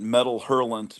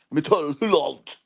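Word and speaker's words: Métal Hurlant: Americans called it Metal Hurlant, but I think we've been told we should pronounce it properly. Metal Hurlant.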